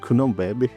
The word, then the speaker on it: Cunhambebe: Wait, it's pronounced Cunhambebe.